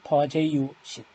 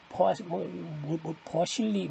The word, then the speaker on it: Poiseuille: 그 다음에 8의 2절 하겐 버제유신 미국 사람은 헤이즌 버실리 이상하게 읽는데 원래는 하겐 버제유 독일 사람 프랑스 사람인지 그래서 그쪽 발음을 해줘야 됩니다.